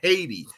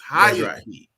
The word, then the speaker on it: Haiti: They pronounce it correctly. It is not Haiti. It's Hayati.